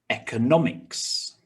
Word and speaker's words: economics: it okay next one four syllables with stress on the third syllable don't worry the maze isn't as big as the last round let's have a look so the first one economics economics okay pause the